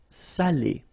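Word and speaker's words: salé: the same adjective here without the accent so if you don't put the accent it means dirty and then you pronounce it Sal but in that case here okay you put the accent and it's quite important because in that case it means salted okay Sally okay say s say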